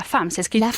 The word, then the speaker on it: femme: La femme. Se escribe femme, pero se dice con una A.